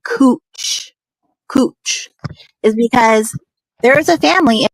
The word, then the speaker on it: Couch: It says couch, but it's pronounced Cooch.